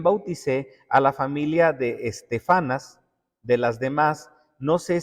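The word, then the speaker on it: Estéfanas: También bauticé a la familia de Estefanas, de las demás, no sé si he bautizado algún otro. Estefanas, acento en la e.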